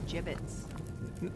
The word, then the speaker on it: gibbets: It's pronounced gibbets.